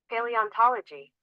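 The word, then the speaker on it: paleontology: पेलियोंटोलॉजी, पेलियंटोलॉजी, पेलियंटोलॉजी, ऐसा पेलियंटोलॉजी, पे से याद रखना है।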